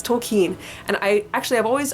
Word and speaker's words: Tolkien: and for me that's going to be people pronouncing JRR tolkien as token it drives me nuts drives me bonkers up a wall its toll keen and I actually I've always I always used